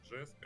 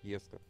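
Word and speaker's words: Jesko: все говорить, что это Жеско. Я... Ну, это сам... типа имя вот этого основателя компании Кёнигсек, насколько я понимаю, правильно оно произносится именно вот Еско.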